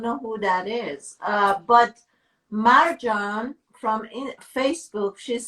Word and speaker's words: Marjan: Marjan. I know I'm not pronouncing it correctly.